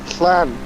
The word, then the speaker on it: Llan: Anything with two L's at the start of the Welsh language don't get pronounced L, it gets pronounced. So Llan.